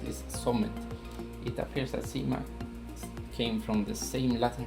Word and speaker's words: Cyma: in 1874 schwab freighters establishing american distributorship and sima which is pronounced sima and let's see a little bit more of